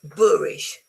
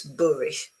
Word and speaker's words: boorish: Is it short or long? Book or food? It's book. It's shortish. Okay. And even wood. So it's boorish. It's not boorish, it's boorish. Okay, so short.